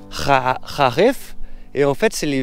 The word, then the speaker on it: Kharif: C'est qu'est-ce qu'ils ont la saison, ce qu'ils appellent le Kharif, qu'on prononce, je crois, comme ça, Kharif. Kharif.